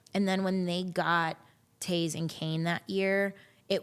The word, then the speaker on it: Toews: Jonathan Toews. It's spelled like toes.